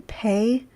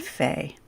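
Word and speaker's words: פ: It's the same letter, 2 different pronunciations, and then Pei and Fe.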